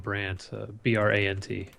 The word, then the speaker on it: Brant: Jason_Brandt, Brant. There we go. Easy enough. Phonetically friendly, so you can't get it wrong. Simple. No D. Everybody puts a D in my name for some reason.